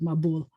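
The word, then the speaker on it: מבול: In Yiddish, the accent's going to shift toward the beginning of the word.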